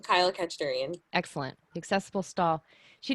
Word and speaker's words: Khachadurian: And I lost the pronunciation. Could you say his last name? Sure, Kachadurian, Kyle Kachadurian.